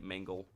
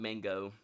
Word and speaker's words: Mangle: I meant to say Mangle. Mangle. Not mango.